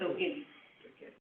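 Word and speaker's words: Ogene: Yes, She does spell it O-G-E-N-E, but it took me about 50 tries yes. to realize that it wasn't O-G, and it's O'Guiney. It's okay because it's Nigerian, but, can't say Ogini, just say Ogini, it's fine.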